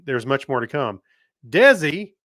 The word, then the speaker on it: DESI: much more to come desi pronounced like desi arnaz's name wow that's three times